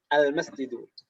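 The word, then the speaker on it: المسجد: Al-nya jelas dan tanpa tanwin. Al-masjidu.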